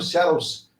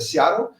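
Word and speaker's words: Seattle: O Botafogo sofreu para ganhar do Searos Sunders, né, lá dos Estados Unidos, né, muitos falam sear, na verdade a pronúncia correta é Searel.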